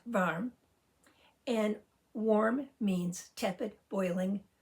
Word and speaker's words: varm: It's pronounced varm.